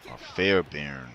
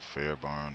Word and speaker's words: Fairbairn: Fairbairn, that's how it's pronounced. I said Fairbarn or Farbear or something.